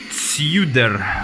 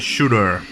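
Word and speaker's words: Tsjuder: open this is that some people would pronounce it see you there but it's actually pronounced as shooter so shooter are Norwegian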